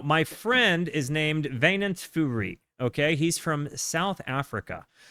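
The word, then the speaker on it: Fourie: Now, my friend is named Vainant Furi, okay? He's from South Africa. He is actually tremendous. His name is spelled Winand, like W-Y-N-A-N-D, Furi, like the number 4 I-E, but it's pronounced Vainant.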